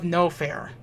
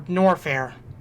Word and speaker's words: Norfair: to the direction of noair or norfair I want to say norfair I I want to say noair like the r the first R is silent but it's not but yeah H chose